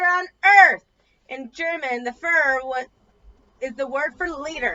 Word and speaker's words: Führer: In German, the Führer is the word for leader, and the Führer was what Germans called Hitler. You pronounce it like this, Fire.